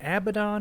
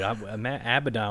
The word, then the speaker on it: Abaddon: But no, I think phonetically, I think it is Abaddon. Right. But you know what? I'm gonna say Abaddon because I like the way it rolls off the tongue better.